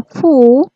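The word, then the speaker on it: ふ: Untuk hu-nya nggak ada, tetapi dibacanya fu.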